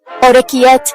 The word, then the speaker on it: orecchiette: Orecchiette, adorable little ears.